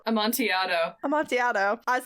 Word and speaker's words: amontillado: all kinds of stories including the cask of amantillato amontillado a montiado i was like i knew he was pronouncing timmy ells where a man is buried